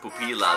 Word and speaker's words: Pupila: Pupila, that's it. That's how you pronounce it.